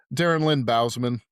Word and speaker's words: Darren Lynn Bousman: Darren Lynn Bousman Right?